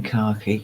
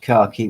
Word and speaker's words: khaki: Kevin by the way it's American khaki yeah remember weirdo Americans again to me it's like a green color yeah right there are 674 000 shades yes tan Brown to a sludgy green isn't it right now he's saying that all British car key whichever is the darkest